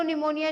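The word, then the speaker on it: pneumonia: Pleuro का पी और निमोनिया की स्पेलिंग पी से ही शुरू होती है। एन के आगे आ गया ना पी तो साइलेंट हो जाता है, जैसे के अगर एन के पहले आ जाए नोन में तो साइलेंट हो जाता है ना, ऐसे ही।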